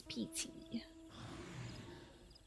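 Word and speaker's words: Peaty: It's like Pete Moss or a Pete bog, you know? She's Pety.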